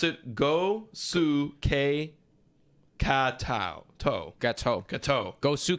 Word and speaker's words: Gosuke Katoh: a pronunciation here thank you so much you pronounce It Go Su K to gateau gateau go Su K go k